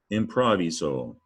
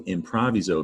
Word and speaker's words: improviso: The origin of improvise is an old Latin word, improviso.